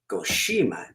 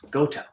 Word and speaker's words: Goshima: However, Colonel Goshima's family chose Goshima, not Goto.